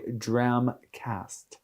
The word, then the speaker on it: Dramcast: Is it cask like a barrel or is it a cast? Cast. It is a cast. There's a T there, yeah. It is a cast. Yeah. Yes. That is the pronunciation of what we're doing, which is a Dramcast. Dramcast. Yes, there it is.